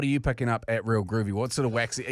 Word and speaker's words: Real Groovy: I keep saying groovy times, but it's Real Groovy.